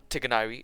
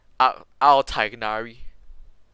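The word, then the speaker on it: Tighnari: Because Tiganari is the correct pronunciation for a character, but they pronounce it as Al Tiganari.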